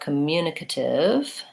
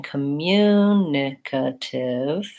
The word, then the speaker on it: communicative: stress is on form but in communicative to have three there it's I would say it's it's not always the syllable right before the ative that's because in communicative it's the same as in communicate the mune is the stressed syllable and it stays I